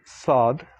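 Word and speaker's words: ص: have the letter sod saad like sadhuk sadak so the first letter is basically similar to an s but more like a heavy s when you pronounce this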